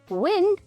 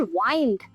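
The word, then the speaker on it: wind: the arrow to it's target next homograph is विंड या फिर वाइंड विंड अगर डब् आई एंडडी को विन प्रोनाउंस करें तो बन जाता है एक नाउन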